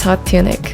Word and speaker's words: Hot TuneiK: pleasant surprise uh so without further ado here's hot tunic perfect now i'm recording okay so it's pronounced yanji yeah all right wow okay this